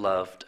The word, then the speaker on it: loved: silent e to live the e is silent which means that you don't hear it and to love you also don't hear the e so it's a silent e and it's lived and loved and of course only